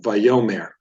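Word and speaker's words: וַיֹּאמֶר: syllable right okay so vayomer is how you would pronounce this word the stress is placed right here in the second syllable if the diet critical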